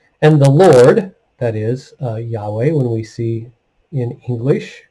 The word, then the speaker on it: Yahweh: translate into english as y-h-w-h and most often pronounced as yahweh so verse 13 and yahweh stood beside him and said i am yahweh the god of your of abraham your father